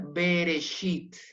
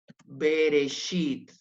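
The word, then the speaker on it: בראשית: un se va entonces acá lo vamos a pronunciar bereshit bereshit bereshit acá no hay vocal acá no hay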